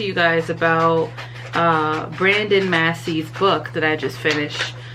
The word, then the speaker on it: Massey: so now i'm like i know it's massey but because i saw that other people have mispronounced it as macy now my brain is